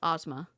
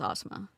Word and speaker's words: Asma: It's ASMA. But it's pronounced Ozma. Which is very close to... I mean, it's just the A difference, but yeah. David, Simony, and her are besties, allegedly, so... But just from what I know, it's Ozma. Like ASMA. Like AHSMA in terms of... However badly I'm pronouncing that because I'm from Texas. I don't, and neither should